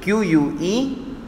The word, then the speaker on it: queue: QUEUE, Q. Yes, isn't it interesting? It contains 1, 2, 3, 4 and 5 alphabets, but the pronunciation is only of one alphabet.